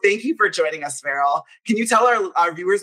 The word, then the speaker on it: Farel: And I totally said your name wrong. It's Farel.